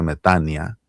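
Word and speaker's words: μετάνοια: Se escribe metanoia, pero se pronuncia metania. O micron con yota se pronuncian como i.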